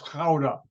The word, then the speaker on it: Gouda: the town center of, you pronounce it Gouda, Gouda in the Netherlands. No, it's Gouda, where the cheese comes from.